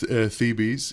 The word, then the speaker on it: Thebes: Tebes? What's the correct name? Well, in English dialect, it's Thebes. In Egyptian dialect, which Thebes. I can gladly respond, it's Thebes. Oh, I think it's Thebes. Thebes. But Tebes.